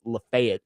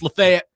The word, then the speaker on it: Lafayette: I heard Adam got some heat from Chase and Big Joe yesterday for mispronouncing Lafayette. It's Lafayette.